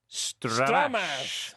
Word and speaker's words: stramash: So the emphasis is on the second syllable, stramash.